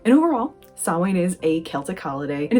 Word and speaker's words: Samhain: a lot of us tend to pronounce it as saowin and overall sawwan is a celtic holiday